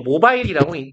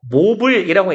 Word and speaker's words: mobile: in mobile species ile 우리 뭐 모바일이라도 읽는데요 모블이라고 읽는게 조금 더 맞은 표현이에요 얘가 이동하는 정도의 의미